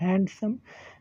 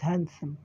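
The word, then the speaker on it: handsome: इट इज़ नॉट हैंडसम। डी जो है silent होता है। इट इज़ हैंडसम।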